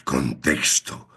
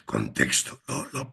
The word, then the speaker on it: ctxt: Y el tercero que recomendado, que es más de pensamiento y debate es contexto que se escribe ctxt. Pues contexto.